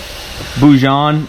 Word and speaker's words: bouillon: The next thing you're doing is grab yourself some shrimp bojine or bojine. I really haven't figured out how to say it, but I'll show you guys what it looks like here. It's bouillon, my sister says, some shrimp bouillon.